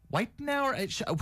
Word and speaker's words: Wittenauer: Whitenauer, she's new, and she told me how to say her last name.